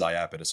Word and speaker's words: Iapetus: get that a lot uh the company is iapidus Holdings iapidus Holdings well we had a great